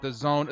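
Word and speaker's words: DAZN: moved to the Zone I call it dazen because of the way that it is spelled but the Zone there are a couple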